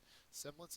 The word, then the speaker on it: semblance: bit hard to understand semblance is a noun first syllable is accented it is a likeness